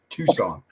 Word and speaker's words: Tucson: right don't valid toxin if it's Tucson that's not how you spell Tucson everyone knows that why is there a c why is there a c there's there's no C doesn't